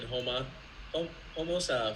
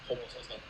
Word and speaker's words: Homosassa: Homosassa. So it sounds like an African... It sounds like someone from The Lion King. Mufasa. Homosassa. Did you visit...